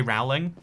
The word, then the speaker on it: Rowling: It's actually pronounced Rowling.